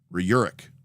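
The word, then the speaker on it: Rjurik: pretty much humans um the J is pronounced like why okay so it's Ru Ru all right I'll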